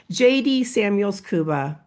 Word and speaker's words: Jaydi Samuels Kuba: So so excited to welcome to the show JD Samuels Kuba. Am I pronouncing that correctly?